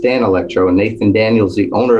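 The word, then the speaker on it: Danelectro: and that i said what was this danny electro guitar you let me use he goes it's pronounced dan electro and nathan daniels the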